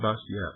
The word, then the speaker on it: Bastiat: name is b a s i a t bastiat yes it's pronounced bastiat I have it I thought was quite remarkable